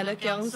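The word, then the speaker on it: Do Kyung Soo: Bener ya bacanya Do? Ya, Do Kyung So.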